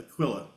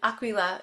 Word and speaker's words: Aquila: Aquilla. In this country we say Aquilla. Okay. And Aquila in in Italy. Okay. So it's Aquilla.